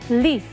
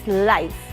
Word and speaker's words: life: word incorrectly incorrectly because sometimes uh we say live okay live is not live it's life okay flora is plant life